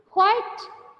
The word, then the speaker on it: quite: And keep quite quiet.